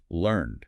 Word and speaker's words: learned: When we use it as an adjective meaning knowledgeable or educated we always use the ed form and it's pronounced differently. Right? It's learned.